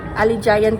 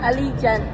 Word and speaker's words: Allegiant: Ali giant kami ng Ali Giant. Alleant pala ang pag-pronounce. Hindi namin alam eh. Iba pronunciation kasi yan. Allegiant. Allegiant.